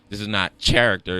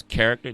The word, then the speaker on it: character: Like, okay, so this is not character. It's character. Now, yeah, the H is silent.